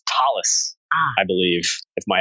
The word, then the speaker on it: Thales: then I'm not sure if I'm going to pronounce this correctly. Is it Thales, Netherland? It's Thales, I believe, if my accent is right.